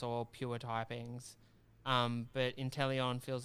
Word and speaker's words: Inteleon: Is it pronounced Inteleon? Inteleon, yeah.